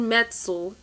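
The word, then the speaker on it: Metzl: criminally insane was infamous for this um jonathan metzel that's how you pronounce his name he's the author of the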